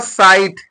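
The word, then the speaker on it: sight: हो जाएगा ये ड्राफ्ट इसको पढ़ेंगे प्रारूप यहां साइट एस आई जी यहां पर टी है एच को साइलेंट कर दीजिए तो क्या हो जाएगा साइट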